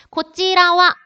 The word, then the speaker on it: こちらは: 고찌라와 할 때 얘를요. 제가 뭐로 읽었어요? 와로 읽었어요. 조사로 은는의 뜻일 때 은는의 뜻일 때는 와로 읽는다고 했습니다. 고찌라와 이쪽은 할 때 와라고 읽는 거.